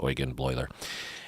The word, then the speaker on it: Eugen Bleuler: would be Eugen or Eugen Bleuler, but it's pronounced Eugen Bleuler.